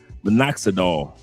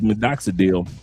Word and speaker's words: minoxidil: pharmacy is the mex uh minoxidol or minoxidil and it comes in different box different uh uh brands but it's called is minoxidil and I'll spell it